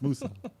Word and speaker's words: Musou: Kev, you don't know how to pronounce the What? games? It's Musou.